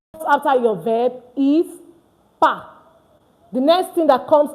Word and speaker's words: pas: Followed by your verb suis, and the next thing that follows is pas. Please, it's not pass. This S is not pronounced at the end.